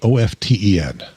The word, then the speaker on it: often: Do you say the word OFTEN? Often. There we go. It's like coffin. Yep. the T is silent.